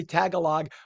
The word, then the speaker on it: Tagalog: You have Tagalogs there, and I will. And by the way, I was corrected. We say Tagalog.